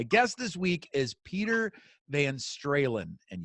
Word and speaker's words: Van Stralen: this week is Peter maeín Strahan and yes that rhymes with Van Halen peter is a successful